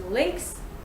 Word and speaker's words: lynx: But I actually found another one, lynx, which is lynx.